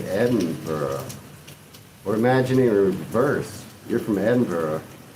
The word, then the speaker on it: Edinburg: Edinburgh is hard for me to say because I you we have Edinburg, Texas and I used to live there and and it's pronounced Edinburg.